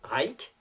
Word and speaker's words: Rajk: En octobre 1956, on assiste aux grandes funérailles officielles d'un dirigeant communiste hongrois qui s'appelait Rajk, comme paraît-il, il faut qu'on prononce ce nom, qui avait été l'une des victimes des procès staliniens d'après-guerre.